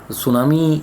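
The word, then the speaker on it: tsunami: मैं आपको बता दूं, सुनामी में टी साइलेंट रहा इज़ a Japanese word that means हार्वियर्स, जिसका हम कह सकते हैं।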